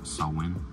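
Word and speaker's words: Samhain: originates back to an ancient Celtic Festival called Sam Hayne not a lot of people know this this is actually Gaelic word that is originally pronounced sawin it is a pagan religious celebration to welcome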